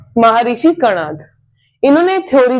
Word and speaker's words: कणाद: तो महर्षि कन कनार्थ तो कई लोग इसे ऐसे भी प्रोनाउंस करते हैं कन्नड़ और कुछ कहते हैं कणाद और एक्चुअली में इनका नाम था महर्षि कणाद।